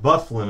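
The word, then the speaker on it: Byfuglien: by hijack that the guy's name is pronounced bufflin I appreciate that here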